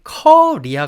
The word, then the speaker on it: Korea: 이야기를 하시는 경우가 많은데 사실 영어로 발음을 할 때 코리아 가 아니라 약간 커 리아 같은 느낌이에요 커리 카레 커리 처럼